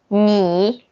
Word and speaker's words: 你: 你 Okay. So you want to pronounce this n. You feel something in your nose. Something in your nose. And when you say You don't feel anything in your nose, and you can relax.